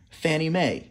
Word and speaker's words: Fannie Mae: Association stands for FNMA we pronounce FNMA Fannie Mae that's the nickname we